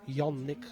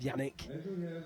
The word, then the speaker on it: Yannick: do have to say my pronunciation of his name is very Lancastrian and know that the Swiss pronunciation is very much young Nick glad but we stick with Yannick given Bolton twang means